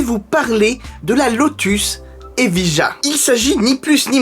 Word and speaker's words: Evija: Sauf erreur de ma part, il me semble que Lotus prononce ça Evija. Mais comme je trouve ça un petit peu relou, je préfère dire Evija ou Evija.